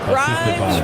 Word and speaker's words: Grimes: Grimes rhymes with dimes on time right there.